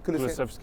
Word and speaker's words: Kulusevski: Kulusevski, yeah.